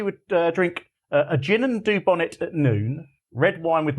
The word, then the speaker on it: Dubonnet: How do you pronounce that then? It's dubonnet, darling.